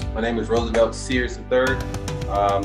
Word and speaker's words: Searles: is Roosevelt Searles III. The L is silent.